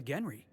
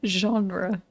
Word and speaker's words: genre: It's a rule of the Genry.